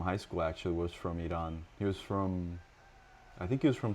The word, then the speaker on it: Iran: Iran is like how you would say it in America, but I think it's Iran.